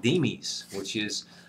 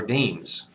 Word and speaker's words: demes: They want democracy, and they decide to organize themselves into small political unions called demes, or demes. You can pronounce it either way, but it's the basis for democracy, all right?